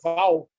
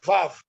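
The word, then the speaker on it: וָו: Alguns dirão, mas não é Vav, é Val. Em judaico, a pronúncia hebraica é Vav.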